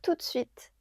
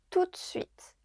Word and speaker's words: tout de suite: Je préfère te le dire tout de suite. I'd rather tell you right away. Tout de suite means right away. Be careful. Here we don't pronounce the e in de tout de suite.